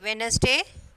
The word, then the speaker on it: Wednesday: Wednesday, D is silent.